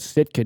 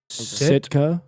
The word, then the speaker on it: Sitka: I need to go to the Eastern Shore and get some of that Sitka deer.